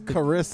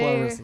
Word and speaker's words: Carissa: No, it's Carissa. not J- Clarissa.